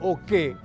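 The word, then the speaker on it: oke: Abajo, o qué es una palabra oral, o qué, que significa dormir, o qué, oral, dormir.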